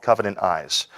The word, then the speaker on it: Covenant Eyes: Yeah, no, the software that we use is called Covenant Eyes.